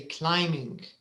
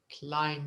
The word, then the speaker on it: climbing: climbing and the B the letter B is silent okay so you should say climbing climbing Ming yes all right